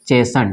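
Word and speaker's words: chasten: क्या हो जाता है यह टी साइलेंट हो जाता है जैसे की ये देखिए इसको कर सकते हैं हम लोग जैसन क्या करेंगे इसको chashn क्या पढ़ेंगे इसको चेसन ठीक है ना उसी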